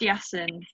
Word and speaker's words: Yassen: It's pronounced Yassen, isn't it? You've got that right.